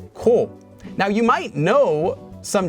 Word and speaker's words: 子: ended with this character which in japanese is read as ko now you might know